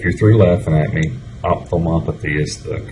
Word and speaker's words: ophthalmopathy: Uh Okay, if you're three laughing at me, ophthalmopathy is the correct pronunciation of the word.